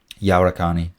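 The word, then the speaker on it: Yahuarcani: Yawarkani.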